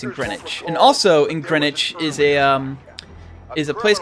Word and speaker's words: Greenwich: It's pronounced Greenwich.